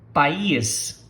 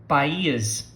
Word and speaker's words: país: We're going to start with the title of the song, which is Tropical Country, meaning country, país. Repeat, país.